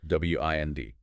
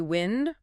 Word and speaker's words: wind: W I N D can be wind rhyming with send. That's the noun. Moving air. Or wind rhyming with find. That's the verb meaning to turn or coil something like winding a clock or a string.